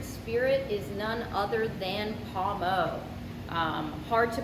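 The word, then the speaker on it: Pommeau: this month's featured spirit is none other than paumo hard to pronounce some people some people say pumo or pom pom um it is french the way to pronounce it is palmo it's actually french for apple water and this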